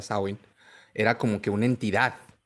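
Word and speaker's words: Samhain: link de que Samsung que se pronuncia como tú lo dijiste de manera correcta sauin era como que una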